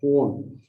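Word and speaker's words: Jun: In 2015, there is a small town in Spain called Hun. They pronounce it like this, Hun.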